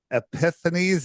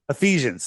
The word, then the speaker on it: Ephesians: It is epiphanies. Is do I say that right? I can't even say it right. 612 Ephesians. Ephesians.